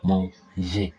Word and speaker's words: manger: But we need juh juh, like mon ger, not guh. That's why this E is here. This E is there to make it a soft G sound.